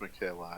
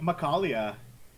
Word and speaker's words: Michaela: don't think it's pronounced Michaela, is it? It is pronounced Michaela, actually. Really? I always thought it was like Macaulay. Nope. It is a lady's name.